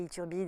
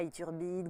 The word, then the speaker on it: Ithurbide: même voulu en changer tellement personne n'arrive à prononcer Ithurbide et je me disais mais tout le monde se fout de moi il turbine grosbille c'était chiant quand j'étais petite mais j'ai